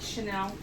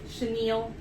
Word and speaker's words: chenille: I pulled it off of um Caribbean Premier Basic Chanel. Chenille. I always pronounce it wrong.